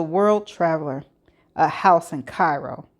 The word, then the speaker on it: Cairo: A house in Cairo. Not Cairo, pronounced Cairo, Illinois, but the real one.